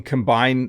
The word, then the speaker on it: combine: it a combine and what's tricky about this is it looks like the word combine so you can combine two words together to make a new word you can combine ingredients to make something in your kitchen but this is a combine notice the slightly different pronunciation you can combine two